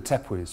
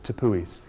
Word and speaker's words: tepuis: This massive uplifted shield of rock, which is home to these vast, gigantic plateaus called the tepuis, or tepuis, depending upon how you want to pronounce them.